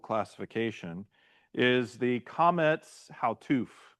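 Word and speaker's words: Qamets Hatuf: long O sounds, the Kometz Hautuf is your short vowel sound. Okay. The Kometz Hautuf is your short vowel sound like cost. Like cost.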